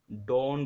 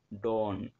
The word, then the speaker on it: dawn: আমাদের next word হচ্ছে ডন, ডন মানে কি, DAWN, এটাকে আমরা ডন বলতে পারি, মানে ডটাকে একটু টেনে তারপরে ন, ডন, ঠিক আছে।